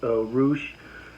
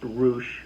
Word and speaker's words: Rush: of some heat himself ruche a former roh Champion that's r-u-s-h but it's pronounced roosh brother of um oh